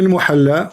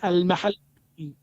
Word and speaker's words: al-Mahalli: Jalaluddin al-Muhalla wa Jalaluddin al-Suyuti. So wrong. It is not al-muhalla. What it You is? don't understand. What it is? It is al-mahalli.